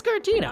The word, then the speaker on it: Giratina: a little bit of a Pokemon nerd, but Giratina? Giratina? Yeah, it's Giratina.